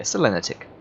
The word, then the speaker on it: Selenitic: um It's s ntic no stress on any syllable according to Google so did I just put a stress on is that selenitic just just one long word yeah selenitic that sounds fine let's